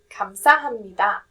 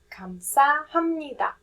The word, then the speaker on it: 감사합니다: The p sound changes to m sound just for easier pronunciation.